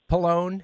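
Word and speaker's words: Pallone: Uh, Palone has won and am I pronouncing his name correct? Palone.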